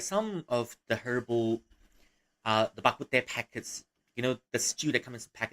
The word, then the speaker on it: bak kut teh: Especially in bakute shops, you'll find, or if you want in standard Chinese, rou cha, bakute is the Hokkien version, or rather the Hokkien pronunciation for this local dish that we have here in Malaysia.